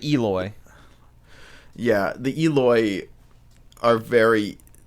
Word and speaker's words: Eloi: technology and stuff, where how did you pronounce it? The Eloi? Is that how they're pronounced? Yeah, the Eloi.